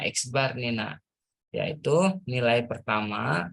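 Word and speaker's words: x̄: dimana rumusnya X bar, nah ini bacanya X bar nih, nah yaitu nilai pertama, berapa nilai pertamanya 80.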